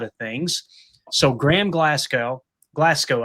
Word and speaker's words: Glasgow: So Graham Glasgow, Glasco, I think is how you say it.